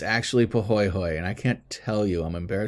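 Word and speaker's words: pahoehoe: Well, before I pronounce this one, how would you say this? Yeah, exactly. Pahoho, right?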